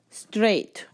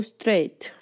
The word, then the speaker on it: straight: the car verse six straight go straight straight on go straight straight the GH here is silent you don't pronounce it you write it without